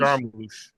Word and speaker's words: Jarmusch: And it also talked about Quentin Tarantino and Jim, how do you pronounce his name? Jarmusch, Jarmusch.